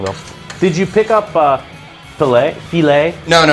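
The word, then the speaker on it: filé: Did you pick up filet?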